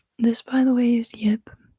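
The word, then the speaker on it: Jip: This, by the way, is Yip. It's my stuffed animal, and he also just wanted to say hi. So everybody say hi to Yip. It's J-I-P, Yip.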